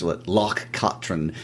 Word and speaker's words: Loch Katrine: And I would like to point out that pronunciation was taught to us by our good friends Hamish and Nancy in Scotland. Yes, we were mispronouncing it for a while. They corrected us. Loch Katrine.